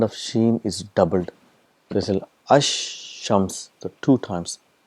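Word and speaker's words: الشمس: so what happens is the AL is written it becomes silent and the sound of shen is doubled there Ash Shams the two times it's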